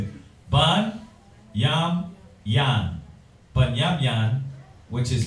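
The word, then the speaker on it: בנימין: Ban, Yam, Yan. Brothers get that wrong. That's why I'm pronouncing it. Ban, Yam, Yan.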